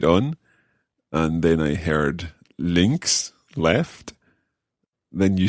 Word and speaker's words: links: okay what about left links links links okay that's sausages in the uk but anyway links links for left and right okay it's quite tricky the sound at the end there there's a at us